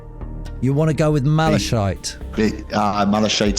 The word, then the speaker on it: malachite: what it's about malachite I'm pronouncing malachite but I don't know if it is it's m a l a c h i t e Mal malachite malachite CH not a CH I don't think it's a CH don't